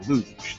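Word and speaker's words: Looj: computer america this time the irobot luge they spell it l-o-o-j it's not an olympic event we didn't want all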